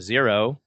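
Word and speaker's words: Xero: which is quickbooks online I only support a zero and that's spelled X ero so people who are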